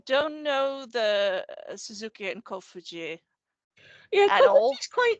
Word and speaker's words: Kofuji: Is that how you pronounce it? Kofuji, yeah, that's it.